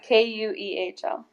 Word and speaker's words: Kuehl: So it's pronounced Kuehl, but it's spelled Keuhl, so people can look up and see where you're going to be racing. Yeah, Kuehl.